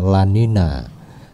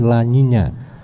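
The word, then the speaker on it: La Niña: mitigasi dan Siaga fenomena La Nina kalau kata teman-teman saya bacanya bukan Lanina tapi lainnya cuma karena lidah Jawa saya nggak bisa bilang lainnya saya bilangnya Lanina aja nah membicarakan tentang mitigasi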